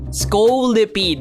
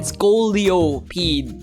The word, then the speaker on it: Scolipede: Scolipede, that's how you pronounce that, right? Not a single soul commented on yesterday's video. I said Scoliopede, which is, you know, the thing with your spine, right?